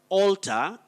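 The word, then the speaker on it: altar: alter something to change then we also have alta a-l-t-a-r then we have pulpit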